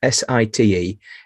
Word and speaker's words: Siteawe: That's Siteawe.